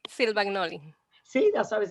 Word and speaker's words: Silvagnoli: Silvagnoli.